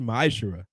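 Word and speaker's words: מעשר: and malachi 3 8-10 means 10th in the hebrew and is pronounced maeshra ten percent of every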